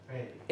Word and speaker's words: bury: Berry. এটাকে আপনি যদি বাড়ি বলেন ঠিক হবে না, অলরাইট?